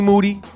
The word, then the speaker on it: Moody: in here with G moody last name rhymes with duty always ready G Manetti